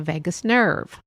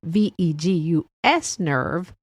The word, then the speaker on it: vagus: It was a few episodes back, and it was on the vagus nerve. And not the vagus nerve, VEGUS nerve, the VAGUS nerve.